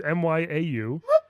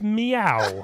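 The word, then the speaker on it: Mieu: over a year ago I couldn't pronounce that name is Mya you its meow yeah she's a cat from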